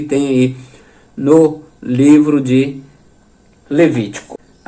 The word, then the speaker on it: Levítico: Assim também Levítico e não Levíticos. Levíticos é errado. A pronúncia correta é Levítico, no singular.